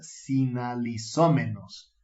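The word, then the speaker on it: συναλιζόμενος: La palabra que suele traducirse como comer con ellos es el griego que se pronuncia sinalizómenos, que literalmente significa comer sal con ellos.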